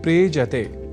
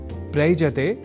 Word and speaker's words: प्रेजते: दोनों के मेल से शब्द बनता है प्रेजते। प्रयजते नहीं।